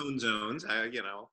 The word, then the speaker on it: Own Zones: It's pronounced Own Zones, it's Own Zones Media Network, and it's a triad company that focuses on technology, media, and now the third pillar being original content.